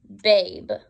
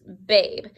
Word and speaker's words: babe: of baby we have babe okay because this is becoming a silent E so we're not really hearing that so just babe now that's not the